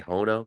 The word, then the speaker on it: HONO: whatever you want to they they spell it differently they like to say hono it's fun to say